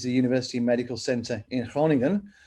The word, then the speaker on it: Groningen: university medical center in hronington that's groningen but pronounced in dutch and they would love